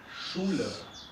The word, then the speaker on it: Schule: SCH son muchos consonantes, pero solo un ruido. Y el ruido es Schule.